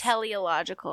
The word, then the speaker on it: teleological: Teleological. Yes. I always say it wrong. It's teleological. Like telly.